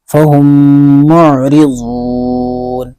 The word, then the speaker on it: فهم معرضون: زیر ری، فہم معری، را کے نیچے زیر ہے اس لیے را باریک ہوگی، فہم معری، ضاد واو